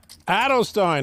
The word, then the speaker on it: Edelstein: before the WSOP and Mr Edelstein is that how you pronounce his name Adel Stein like Leonard Bernstein yeah that'll that'll help